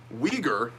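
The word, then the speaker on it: Uighur: against Chinese officials for the treatment of the Weger population and the Jing Jing province Jinjiang province hi I'm too white to say that word by the way we ger is spelled UI g hu r so if you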